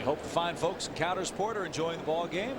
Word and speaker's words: Coudersport: And we've gotten the official pronunciation of what? Of that town in Pennsylvania. Okay. It's Coudersport.